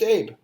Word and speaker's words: Abe: It's just Abe. Oh, Abe. I always thought it's something else. No. Abu or something. No, Abe. Abe.